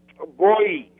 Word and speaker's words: Bowie: Bowie. Bowie, it's interesting. It's like Boy with an E. Boy with an E, Boy E.